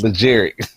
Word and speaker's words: Legere: said legitimate he said watch how you say my name it's legere oh hell he just